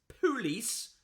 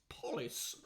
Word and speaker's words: police: Barbara Michael says, the mispronunciation on TV and radio that irritates me most is police rhymed with fleece. It's police, obviously.